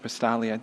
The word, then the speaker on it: Pastali: Since I wrote the minutes, just a quick summary here that Mr. Pastali, that's how I pronounce his name, right? Thank you. Pastali.